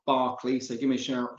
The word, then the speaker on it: Berkeley: But first one is, so name's spelt Berkeley, but it's pronounced Barkley. So give me a shout, just shout Barkley.